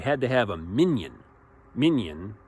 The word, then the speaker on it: minyan: Minyan, now it's not like minions, the little yellow creatures.